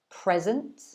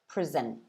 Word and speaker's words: present: you can see they are quite different in pronunciation so try and shadow that again the first one is present second one present i hope that helps you're very welcome and